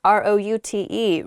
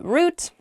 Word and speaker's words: route: next word is root ro ute root is how I say it you might also hear the word pronounced route root ro ute means